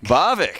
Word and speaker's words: Bavik: All right, up next is it Bavik? Bavik. Is that right? From Raleigh? Did I say it right? Yeah, you said it right.